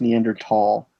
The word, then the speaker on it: Neanderthal: Neanderthal. Really? I am a Neanderthal. I'm the missing link. It's actually pronounced Neanderthal.